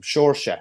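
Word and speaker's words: Seoirse: yeah uh sure bulfin i've been regularly informed it's the correct way to pronounce his name shorshet so just that's just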